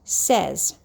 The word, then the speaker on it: says: has an s at the end and it's pronounced says all right write that in the air please